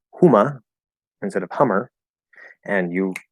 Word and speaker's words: Hummer: I gave the example of Huma in German, which is spelled this, pronounced Huma.